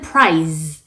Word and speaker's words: prize: 2번 지문은 연설 내용이었고 prize 라는 단어가 나왔는데요. 이 price 하고는 다른 발음이죠. 끝 발음 처리를 잘 해주셔야 됩니다. 시험에 나온 단어는 prize 였어요. z 발음으로 마무리하시는 거고 price 가격은 s 발음으로